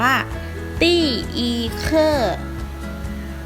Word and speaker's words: 第一课: สวัสดี บท ที่ 1 ภาษา จีน อ่าน ว่า ตี้ อี ค่อ teay ค่อ แปล ว่า บท ที่ 1 นี้